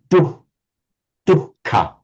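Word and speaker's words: दुःख: So it's a distinct H sound before the K. Classical Sanskrit would tend to say dukkha.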